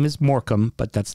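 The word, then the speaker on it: Morecambe: And Morcambe is spelled the same suffix. Yep. Morcambe. It's Morcambe, and they have a shrimp on there.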